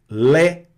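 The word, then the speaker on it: lait: Então pronuncia-se como é aberto nunca aí. Não, não vai mais nessa. Esqueceu esse sistema português, não é? Então aqui, olha, olha como é que fica isso nas palavras. Lé.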